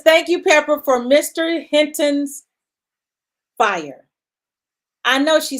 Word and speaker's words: Hinton: time I did it the announcer said my name wrong said and playing our national Anem national anthem is Hilton Hinton it was so funny